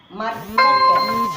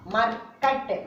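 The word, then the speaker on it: मर्कट: Next one, ma. This is ma. This is ir, the semi-consonants of ra. Ma, ir. This is ka. Ta. Ma, ir, ka, ta. Markat. Ma, ir, ka, ta. Markat.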